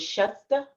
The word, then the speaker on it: Schust: but um yeah and the pronunciation of your name is shasta is it yeah it's just and it's also like it's true in german but this is how our families pronounced it it's just yeah like